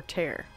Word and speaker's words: tear: Wait, tear or tear? And now you are here. They probably... Oh, okay, it rhymes with here, so they're making a tear.